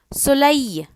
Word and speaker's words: soleil: Whenever you see E-L or E-L-L-E, it is pronounced as Y. Soleil, S-O-L-E-I-L, soleil.